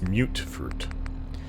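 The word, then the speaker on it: mutfruit: i gotta say right they spell it mutt fruit but it's mute fruit all right so where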